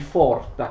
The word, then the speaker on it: Pforta: Nel 1858 Nietzsche riesce ad entrare nel liceo di Forta, che si scrive Pforta, vedete vi ho scritto alcune cose alla lavagna, che si scrive Pforta ma si legge Forta, uno dei più prestigiosi licei, uno dei più prestigiosi istituti tedeschi.